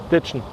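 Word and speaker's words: Ditschen: So das Ditchen ist was ganz typisch Sächsisches.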